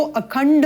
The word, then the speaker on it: अखंड: हमें स्पष्ट करना है ड में अ का स्वर युक्त करते हुए अगर हम इसमें ड में हलंत लगा दे तो अखंड मंड इस प्रकार होगा परंतु यहां पर आप देखते हैं कि खंड में हलंत नहीं है ड पूर्ण है अर्थात अ स्वर युक्त है इसलिए उच्चारण होगा खंड इसी प्रकार से मंड तो यह चीजों का